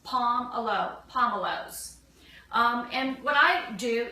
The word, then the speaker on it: pomelo: of your grocery stores now and they're pron pronounced palom Alo pomelow um and what I do is I will